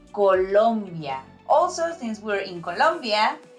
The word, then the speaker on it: Colombia: is cuanto number one Colombia okay not Colombia Colombia is an ivy league university in New York Colombia is the land of Gabriel Garcia Marquez and vaginato I've